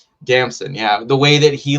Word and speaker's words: Damson: the way that like what's his name, Idris, Damon Idris, did I say it right? Damson, yeah.